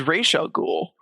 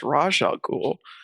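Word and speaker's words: Ra's al Ghul: Arkham because raal ghoul is actually supposed to be pronounced rajal ghoul as in pron because it's Arabic for head of the demon or the demon's head.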